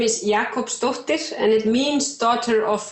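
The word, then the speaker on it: Jakobsdóttir: your last name means and how you would pronounce it well my last name is Jakob stuffed dish and it means daughter of Jakob because in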